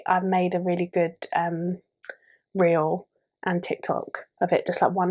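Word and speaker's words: rí: But the word of the week this week is short, sweet, simple, and it's Ree, and it means king. And it's spelled R-I with a fodder over it.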